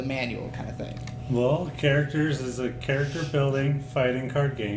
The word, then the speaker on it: Karacterz: Called Karacterz with Karacterz, right? yeah. Is that how you pronounce it? Karacterz.